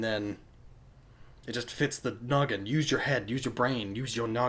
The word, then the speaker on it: Gnoggin: Use your noggin. Haha. Silent G, because silent letters and stuff, and the G can stand for gaming.